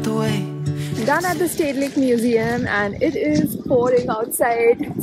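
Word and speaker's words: Rijksmuseum: that I've learned is that I have been pronouncing the name of this Museum wrong it's actually called State Lake Museum but they are always nice to have an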